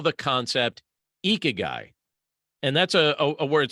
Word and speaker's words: Ikigai: Now, they call the concept Ikigai, and that's a word spelled Ikigai, and it's pronounced Ikigai.